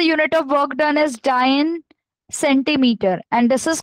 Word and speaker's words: dyne: This word is pronounced as dyne, D-Y-N-E, dyne.